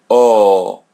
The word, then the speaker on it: hotel: Let the letter H come in the beginning. So, it's silent. We don't pronounce it. Letter L comes in the end. So pronounce it as W. And letter A or E in English we pronounce it as A.